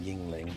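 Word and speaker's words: Yuengling: It's pronounced yingling. It's a beer.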